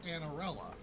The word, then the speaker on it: Anarella: And I was just like, Anarella, like that's how you say it.